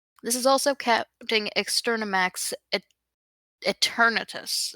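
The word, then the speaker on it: Eternatus: Eternitus. Etern. Yeah, Eternitus. I said it right the first time.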